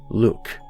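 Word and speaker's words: Lugh: If that name doesn't ring any bells for you, keep in mind that Lu is sometimes pronounced Luke, as in the luck of the Irish.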